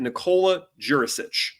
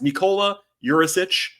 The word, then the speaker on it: Nikola Djurišić: they drafted Nicole jurich so it's Nica Urich I believe is the way it's supposed to be pronounced my apologies there not a native speaker obviously but that's the pronunciation guy that the NBA gave out um 20-year-old Wing from